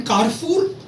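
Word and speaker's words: Carrefour: Then कारफूर, world famous एक retail outlet है जैसे हमारा वॉलमार्ट है.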